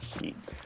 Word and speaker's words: chic: so Chic so Chic I always thought it was chick but I've never been the best at the pronunciation Nation skills well in that context it's definitely she oh good tortimer you